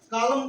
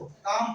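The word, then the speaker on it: calm: एम से तुरंत पहले देखो, कॉलम पढ़ते क्या इसको, काम पढ़ते, क्या पढ़ते हैं, काम। एल एल नहीं पढ़ा जाएगा, पाम, एल नहीं पढ़ा जाएगा, पाम, एल नहीं पढ़ा जाएगा।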